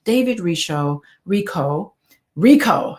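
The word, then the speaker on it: David Richo: David Rico, that's how you pronounce it.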